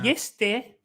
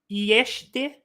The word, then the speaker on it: este: yeste. When I was learning, it was something more like yeshte. Really? The E was slightly separate and the S was sh, yeshte, something like that.